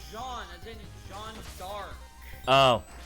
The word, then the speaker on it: Jean: Didn't say John, I said Jean. As in Jean. My name is Jean Valjean. Yeah, it's the French pronunciation.